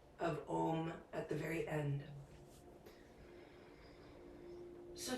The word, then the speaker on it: om: chants of om now om is pronounced the the way that we sound it out it starts with an ah we round it out into an o and we end it with an n g so you kind of